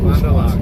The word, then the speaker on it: Fond du Lac: Fond du Lac. You said it right. Fond du Lac.